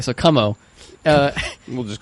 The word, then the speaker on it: Cuomo: so everybody's looking at how we kumo kamal it's cuomo it's like exactly how it's spelled c-u-o-m okay so como uh we'll just call